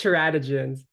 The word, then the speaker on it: teratogens: no no it's okay uh it's teratogens but you're close yeah you're close Dr